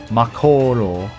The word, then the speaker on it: Mako: am I thinking stupid that's not how you pronounce Mo Mako if you want the reactor Mo reactor it's